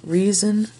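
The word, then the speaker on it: Riesen: And the candy that I would use was called Reason Caramels, and it's spelled R-I-E-S-E-N.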